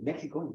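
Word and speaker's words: México: Well, actually, Mexico, the name Mexico, you say Mexico in English, Mexico, but in Spanish it's Mexico because of the Arabs.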